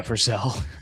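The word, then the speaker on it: Vercel: Yeah, Versel.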